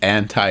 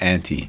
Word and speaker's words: Anti: And it's anti, not anti. It's whatever.